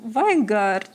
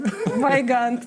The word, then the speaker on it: Weigandt: Taipale, we have Marko Juroshevich, we have Stefan Weingart. Did I say it right? Weigand.